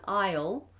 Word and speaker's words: aisle: Isle a row and the word aisle as in the Isle of Man or the Isle of Wight an Isle like an island they're both the same Isle and Isle um